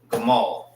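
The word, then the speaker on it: גמל: So that is how you say camel in the Hebrew. Gamal.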